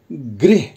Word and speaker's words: गृह: का इस्तेमाल हुआ है तो इसका उच्चारण कैसे करेंगे इस गृह गृह कार्य और जो दूसरा शब्द